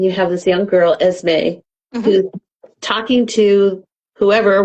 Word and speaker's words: Esme: Esme, is that how we pronounce it? Esme, yes, Esme. Esme/Jane Yes.